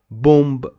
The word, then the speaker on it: bombe: Bomb, bomb, bomb. Guys, we say bomb, but we don't pronounce this E at the end of the sentence.